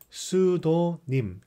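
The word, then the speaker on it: pseudonym: 밍 명의 뜻이다 보고 pseudo 이거는 피가 발음이 안 돼 싸이 컬트 psy 것도 발라드 g 그러니까 수도 님 이렇게 내수 더 님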